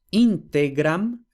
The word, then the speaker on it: integram: Entonces, tenemos integram y vemos que la penúltima sílaba es T, que como la vocal es breve, entonces, como hemos explicado, la palabra es esdrújula. Integram.